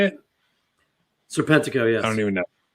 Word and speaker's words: Serpentico: Serpentico? Is that how you say it? Serpentico, yes.